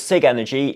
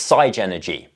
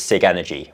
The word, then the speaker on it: Sigenergy: before we get into it it is technically pronounced sa energy I thought it was Sig energy until I had a three-hour meeting with them yesterday and turns out it's not it's side energy they do however accept that the street name